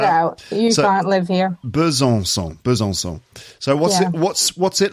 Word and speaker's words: Besançon: It's hard to pronounce. Besançon? Not bad. Besançon. Oh, that was really good. That second time. Besançon.